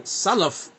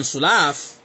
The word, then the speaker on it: Salaf: And if you got problems pronouncing Salaf and it's saying Sulaaf, how many mistakes you're going to have in Fatiha?